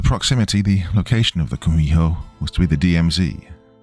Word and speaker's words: kumiho: In Japanese, you've probably heard of it as kitsune, though in Korean it's pronounced kumiho.